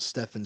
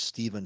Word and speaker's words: Steven: for years and years, I've been called Stefan by multiple people when my name is Steven. So, trust me, the hair stands up on the back of my neck anytime anybody calls me Stefen.